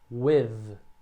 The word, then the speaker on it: with: Quando você pronuncia with, né, o som, esse TH tem só no final, então o primeiro som é we. E daí no final você põe a língua entre os dentes. With.